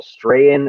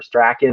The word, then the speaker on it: Strahan: But then you got Michael Strahan or Strachan. I'm not sure exactly how to say it. It's supposed to be Strahan, but I knew a guy named Cam Strachan. We pronounce it Strachan.